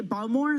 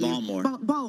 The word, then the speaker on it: Baltimore: of Baltimore Manis manace can you say balore that's how you say it with a Baltimore accent so you know we're going to get balmore balmore balmore oh so